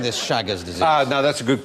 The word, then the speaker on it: Chagas: And while we're on the subject of diseases, who suffered from Chagas disease?